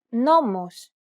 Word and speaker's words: νόμος: This accent just indicates that you need to stress the syllable. That's it. Κάλος, καλός. Νόμος, νομός. Θέα, θεά. Notice how the accented syllables are emphasized? It's pronounced a little bit louder and longer than the surrounding syllables.